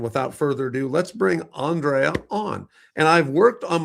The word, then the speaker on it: Andrea: And my name is Andrea. It's very It's a little difficult to pronunciate, but it's like Andrew obviously, but Andrea is my name.